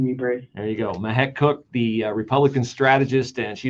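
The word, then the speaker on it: Mahek Cooke: Follow her on Twitter at Mahek Cook. And that is spelled MEHEK.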